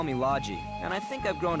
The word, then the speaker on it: Logy: his name okay so we know the proper pronunciation people usually call me lodgy and I think I've grown to like that name lodgy I like Loki better but Logie okay